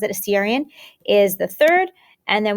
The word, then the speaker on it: Assyrian: the second and the assyrian that's how you pronounce it assyrian is the third and then we go into